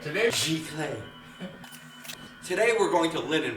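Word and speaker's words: giclée: It's pronounced Giclee. Giclee. Giclee.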